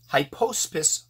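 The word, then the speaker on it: Hypoaspis: However, like a ding dong, I left some of these mites, which are, I have a hard time pronouncing it, hy-PIECE-pis Miles mites.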